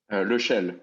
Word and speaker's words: Lechelle: Lechelle. It's a French name.